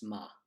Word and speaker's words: ma: For Auld Lang Syne, you don't pronounce my, it's ma.